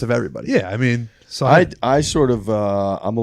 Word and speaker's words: Sahith: all a lesson with Sahith. Yeah, and Which I think is right. You've drilled it. You know, you have it best of everybody. Yeah. I mean, Sahith.